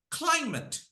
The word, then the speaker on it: climate: syllables if it is noun or adjective put pressure on the first syllable okay so repeat after me climate climate say it climate